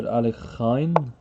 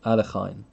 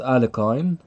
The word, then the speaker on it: Alekhine: I believe has stated dr. Alekhine I believe that's the correct pronunciation a Lahaina not Alec I'm and not a Johan al fine I believe so but